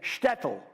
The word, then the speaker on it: shtetl: it over and over all of you say shtetl this is a little Jewish town in the